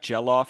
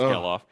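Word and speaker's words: Gelof: Zack Jellof he says all the time. It's Gellof. Michael Tolia.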